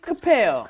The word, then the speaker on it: 급해요: 성격이 급해요. 아, 급해요. Yeah, remember the pronunciation that B up hits this H and it becomes 급해요.